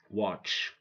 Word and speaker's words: watch: I a be silent watch T is silent match T is silent which T is silent how can t be silent and we pronounce it like we say watch yeah T is silent and the sound that you heard is from the CH okay right don't say